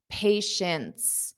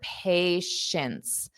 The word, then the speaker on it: patience: So notice this T at the end is not pronounced. Patient, but neither is the first T. Okay, so let's review this one word. Patience. So it's a sh sound. Shints, shints, shints. Patience, patience, patience.